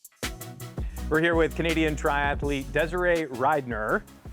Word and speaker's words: Desirae Ridenour: We're here with Canadian triathlete Desiree Ryner, right? Yes. Okay, that's good because I've heard the pronunciation about a million different ways.